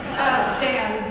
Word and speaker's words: Zan: Zan, Z-A-N, it rhymes with fan.